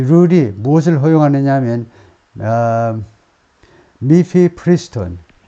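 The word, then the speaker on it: mifepristone: 이 규칙이, 이 룰이 무엇을 허용하느냐 하면, 미피프리스톤, 발음이, 미피프리스톤입니다.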